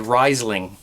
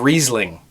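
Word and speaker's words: Riesling: old wine making videos I said risling instead of reasing reasing is a type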